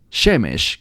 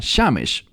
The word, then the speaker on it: Shemesh: A veces se pronuncia un poco diferente, como el término para el sol, Shemesh, que a veces se pronuncia Shamesh.